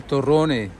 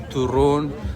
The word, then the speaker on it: torrone: Turrone, torrone. I always get mixed up because in Spanish it's turrón, and in Italian it's torrone.